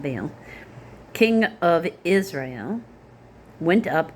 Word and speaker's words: Baal: In the 36th year of Asa's reign, Baasha, Baasha, or Baasha, because people Baal, most commonly pronounced Baal, king of Israel, went up against Judah and